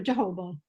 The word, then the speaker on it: jojoba: But yes, I prefer coconut the best, or jojoba, or how do I pronounce that?